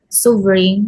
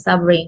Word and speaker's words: suffering: The student pronounced this as suffering, while the correct pronunciation is suffering with stress on the first syllable.